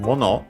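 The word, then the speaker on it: 物: Mono, by the way, accent on the syllable.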